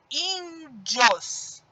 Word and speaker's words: índios: Olha só, índios. O in sai com mais força. E na hora que eu separo essa palavra, eu tenho uma dissílaba, tá? Porque tem duas sílabas. Dios é a última e in é a penúltima.